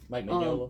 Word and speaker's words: Mike Mignola: Mike Mignola.